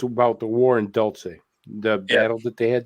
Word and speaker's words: Dulce: Or Duluth, or I don't know how you say it. Dulce or Duluth? Dulce is the way I... Dulce. There you go.